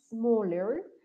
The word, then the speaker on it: small: But in English it's different. We don't pronounce this E, no pronunciamos la E al inicio de la palabra. Entonces solamente van a tener en cuenta el sonido que hacemos, el sonido de la consonante, small, right?